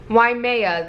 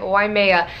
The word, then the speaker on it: Waimea: Waimea, that's how you say it, Waimea.